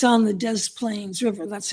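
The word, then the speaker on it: Des Plaines: up in Italian style and it's on the Dez Plains River. That's how it's pronounced Dez Plains.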